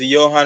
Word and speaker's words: Johan: it when I'm calling it um it is Yan y okay it's Johan okay so